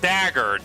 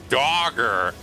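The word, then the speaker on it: Dagr: first ab lady we have is docker not dagger dogger you know it's funny how like when you pronounce it dogger it's kinda like you're pronouncing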